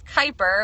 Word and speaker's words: Kuiper: Yes, it's Kuiper. I always get asked, how do you say your last name? It's a strange one, but it is Kuiper with a strong I.